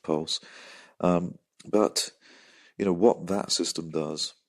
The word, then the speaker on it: PVLSE: As well as that, we heard from Maria Rubak, founder and CEO of Pulse, which is spelled PVLSE. I'm making a wild assumption it's pronounced Pulse.